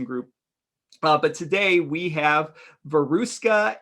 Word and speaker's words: Veruska: So my name is Veruska, which is a Russian name. So it's so hard to pronounce that people call me Veru, Veru.